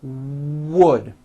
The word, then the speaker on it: wood: do not forget to bring your lips forward on the word wood wood keep it tight wood here we go how